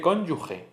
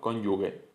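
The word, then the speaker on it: cónyuge: Este trueque nos lleva a pronunciar como ga g ga el sonido gnyuge en vez de cónyug se dice cónyug pero hay gente que acaba diciendo cónyugue.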